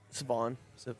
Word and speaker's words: Siobhan: Siobhan. Is that how you say it? Savon. Savon. Got it.